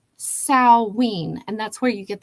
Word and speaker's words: Samhain: Sam no not Sam it looks like Sam Hayne It's s a m h a i n but it's pronounced Sween and that's where you